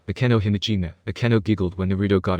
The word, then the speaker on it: Akeno Himejima: It's Akeno Himejima. Akeno giggled when Naruto got her name wrong.